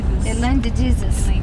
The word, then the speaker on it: Elaine de Jesus: Isso, como que se pronuncia? Elaine de Jesus.